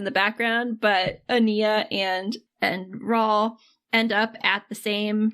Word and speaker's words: Raul: And then we launched into the books, where unfortunately, what's his face, Raul, rhymes with tall, had not died in his hang gliding accident, which is a real bummer.